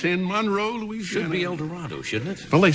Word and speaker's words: El Dorado: El Dorado. No, El Dorado. Oh, boy. Pronounced with long A.